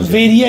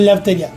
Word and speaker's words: Latveria: Y hace pocos años más que me enteré que es ¿Cómo se pronuncia? Latveria y no es Lafteria.